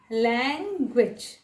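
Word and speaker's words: language: लैंग्वेज में last में ग्विच होता है, उसको ग्विच भी बोल सकते हैं लेकिन छोटा करके प्रोनाउंस करना पड़ेगा, लैंग्वेज।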